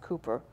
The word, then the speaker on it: Cowper: Now, if you think about that, and the last portion of this, but William, I've said Cowper, it's probably rightly pronounced Cooper, encapsulated this quite properly.